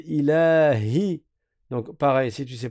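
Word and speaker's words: إِلَٰهِ: Donc on dit pas ilahi. Ilahi. On prolonge. Ilas à vous. Ilahinas ilahinas. Attention le ha il faut bien le prononcer. On dit pas il a il a c'est pas il yi avec un ya c'est ilahi.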